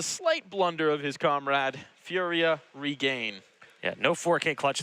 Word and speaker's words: FURIA: Furia, man, I can't even speak. Ooh, Furia is how they say it.